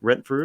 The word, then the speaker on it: Rentfrew: Am I pronouncing that right? Rentfrew?